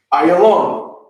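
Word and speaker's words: עֵילָם: So Elam in the Hebrew is pronounced as such. Ayalam. That's it.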